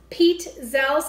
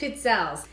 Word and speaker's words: Pizzelle: And it's pronounced Pizzelles, kind of like how you say pizza. I love you too. It's basically the first part of pizza with L at the end, so it's Pizzelles.